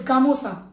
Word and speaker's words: gamosa: Gamosa, that means don't get confused. The pronunciations are gamcha, it's gamosa.